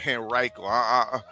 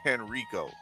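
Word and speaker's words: Henrico: That's how you say it. Henriiko. I keep on saying Henrio.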